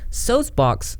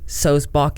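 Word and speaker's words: Sulzbach: Just so everybody knows, Solzbach is the way to say it. And can I just correct you, Onision, Greg, and anyone else? It's not Solzbach. I don't know why people mispronounce my last name all the time, but I've said my name a lot in videos. It's Daniel Solzbach, as in like John Sebastian Bach, like the composer, the musician, Bach.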